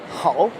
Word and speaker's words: 好: You can just say it like how. That's how you pronounce it, how.